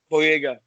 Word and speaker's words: Boyega: How do you pronounce it? Boyega.